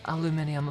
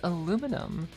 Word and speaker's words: aluminum: You can say, if you say aluminium foil, it's like fine, whatever. But if we're talking about the element aluminum, you better fucking say it right, because it's aluminum. Like every other element on the periodic table, it's pronounced the same way.